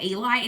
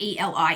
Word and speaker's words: Eli: It's YA fantasy, so where the main character is, I'm not sure if it's pronounced Ellie or Eli, it is spelled E-L-I. In my head, I was saying it Eli, who is so it's